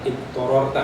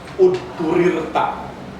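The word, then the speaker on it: اضطررت: terpaksa fa ini turirta, bukan ittororta ya bacanya, tapi udturirta, kalimat pasif kalau dalam bahasa Indonesia, mabni majhul.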